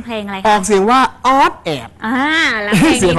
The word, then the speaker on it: อ๊อดแอด: เสียง นิด นึง เพลง อะไร ออก เสียง ว่า ออด แอด อ่า แล้ว เพลง นี้ เ อะไร ต้อง ติด